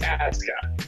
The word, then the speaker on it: Asuka: WWE's doing one thing right because Japanese pronunciation, you never pronounce the U. Okay, but it's Aska. Aksan. Asuka.